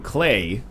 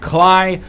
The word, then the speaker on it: Klei: Hey everybody, welcome to Let's Look at Invisible Ink, the new game from Clay, and it does rhyme with Clay in case you're curious, but it's not Cly, but it is the